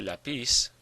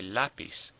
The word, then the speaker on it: lápiz: Now it ends in a Z, not an N or an S, so the stress should be on the last syllable. But we don't say lapis, we say lapis.